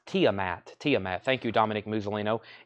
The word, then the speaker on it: Tiamat: Testament Jeffrey Dunlap you were second it was pronounce Tiamat Tiamat thank you Dominic muino any phone The